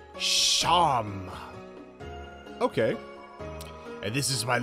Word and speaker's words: Seam: The name Seam, pronounced Sham.